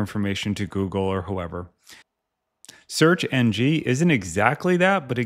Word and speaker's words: SearXNG: Next up, we have searxng or searxng. I actually looked up how to pronounce this and I got a bunch of different answers. So I'm gonna go with searxng or like search next generation.